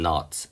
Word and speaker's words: knot: 그러거나 or as if it is tied up in knots. KNOT에서 K는 묵음이니까 knot에 엮여있는 것처럼 knot라는 거는 끈이 뭐 매듭이 될 텐데 매듭끈 같은 거.